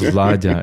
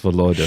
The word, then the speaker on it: Volodya: in Russia, meaning Volodya, it's not pronounced Vladya, it's pronounced Volodya.